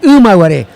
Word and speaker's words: Imaguaré: En rigor, la pronunciación correcta para nuestros hermanos paraguayos que han de andar por allí es Imaguaré.